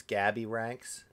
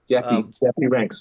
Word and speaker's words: Coolie Ranx: Did you say his name's Gabby Ranx? Coolie. Cool. Coolie Ranx.